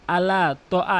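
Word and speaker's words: على طعام: করে, ছোট হা উচ্চারণ করে, এখানে বড় হা উচ্চারণ করতে হবে। ইয়াহুদ্দু, ইয়াহুদ্দু আলা, আলা তো আ, অধিকাংশ লোক আলা তো আ, আলা তো আ এভাবে বলতে হবে আলা তো আ, আলা তো আমিল মিসকিন।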